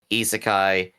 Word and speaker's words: isekai: parenthesis koki and then isekai which uh goes into three syllables isekai isekai no isekai I